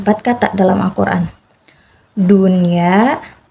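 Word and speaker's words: دنيا: kata dalam Alquran yaitu pertama dunia Jadi dia Nggak duya dia nggak melebur ke huruf ya karena emang ini dibacanya harus jelas hukumnya menjadi izhar mutlak dunia yang kedua Bun ya Nun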